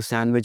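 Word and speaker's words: sandwich: सैंडविच यानी कि बीच के बीच में रेत है, और नहीं भाई इसको सैंडविच बोलना। सैंडविच नहीं बोलना, सैंडविच, डी की आवाज़ नहीं आती।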